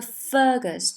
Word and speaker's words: Fergus: 这个 Fergus 它 fer 是强调的一个音节，Carrie Fergus ever sound so sweet。